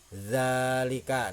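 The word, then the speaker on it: ذَٰلِكَ: fatah berdiri zalika nah jadi bacanya itu dua harkat ya dzalika adna misalkan seperti ini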